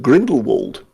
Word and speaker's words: Grindelwald: i've destroyed worked out grindel is that how it's pronounced grindelwald yes why oh it's just because you know the place name is actually called grindelwald so so i got